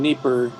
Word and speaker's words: Dnieper: placement of displaced people in Dnieper or Dnipro, depending on whether you use the Russian or the Ukrainian pronunciation.